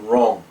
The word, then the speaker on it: wrong: When the letters are together in a word, the W is silent as in right and wrong.